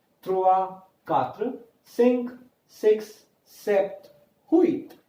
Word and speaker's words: trois: Here, T-R-O-I-S, trois. S is not pronounced.